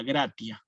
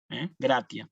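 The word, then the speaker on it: gratia: y una vocal Sí esta palabra en latín clásico se pronunciaría literalmente como está escrita gratis Sí gracias pero cuando aparece la tiene eclesiástico esta palabra pasa a pronunciarse como gracia suena como una ts propiamente gracias sí quizás Ustedes han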